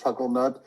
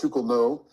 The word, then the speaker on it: Chucklenut: It's spelled Professor Charles Chucklenut, but it's pronounced Professor Charles Shukelno, and he's very, he